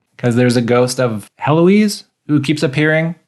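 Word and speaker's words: Héloïse: Because there's a ghost of Heloise who keeps appearing. Eloise. I think the H is silent because it's French.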